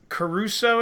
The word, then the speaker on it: Caruso: Charlie, is it Caruso is how you say her last name?